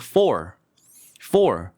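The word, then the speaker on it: four: 그래서 이거를 어떻게 해야 되냐면요. for R 발음을 세게 해야 돼요. 그래서 for.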